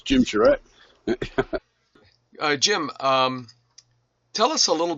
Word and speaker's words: Charette: It's Jim Charette.